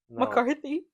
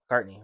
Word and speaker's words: McCartney: McCarthy. McCartney.